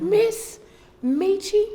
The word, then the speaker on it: Ms. Meechie: Miss Meechie with an SMS period. Put that period on there. Hey, Miss Meechie.